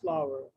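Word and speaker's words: flour: is this f-l-o-u-r floor sir it's not florida's flower no okay again let's take you to the pronunciation guide flower flower it's not floor okay everybody please listen it's not flower it's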